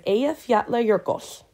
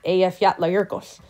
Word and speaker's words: Eyjafjallajökull: pronounce that is because it is simply three words: island, mountain, glacier, strung together.